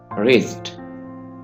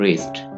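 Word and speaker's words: wrist: रिस्ट, यहाँ पे W आपने साइलेंट रखना है और ये कहलाता है रिस्ट, कलाई, रिस्ट।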